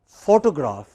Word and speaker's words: photograph: The same word, it can be photo, say it after me, or it can be photograph. Again, in both cases you have a stress on the initial syllable.